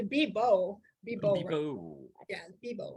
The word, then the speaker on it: Bebow: Pronounce it Bebow with the B. The B on the B, bebow. Bebow.